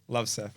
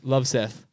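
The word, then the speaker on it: Løvseth: Love Seth. Love Seth.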